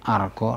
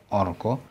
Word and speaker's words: argo: Now, that rule does not apply when the penultimate syllable is with R sound, because A followed by R is always pronounced R, no matter if it's final or penultimate.